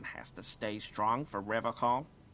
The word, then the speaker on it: Revachol: But someone has to stay strong for Revachol. He pronounces Revachol with a hard K, unlike other people.